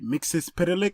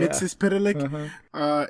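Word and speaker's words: Mxyzptlk: I just got to the episode where she encounters, see if I get this guy's name right, Mixus Pitalik. Yeah. That's how you say it? Yeah. Mixus Pitalik.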